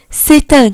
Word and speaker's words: c'est un: خلوا بالكم انا نطقت التي مع اني في الطبيعي بقول سي مش بقولها ست، بس قلت ستان. ليه ستان؟ عشان التي دخلت ما بين 2 فويال، فعشان كده انا نطقتها. فلازم تبقوا عارفين انا امتى بنطقها وامتى لا. لو جه وراها فويال هنطقها، لو ما جاش مش هنطقها.